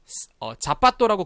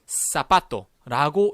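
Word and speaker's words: zapato: 자, 요 녀석이 자빠또라고 그동안 읽으셨을 수도 있는데 사빠또라고 읽어주시면 됩니다.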